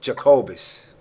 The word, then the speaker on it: Jacobus: Is that the proper pronunciation? Jacobus. Jacobus.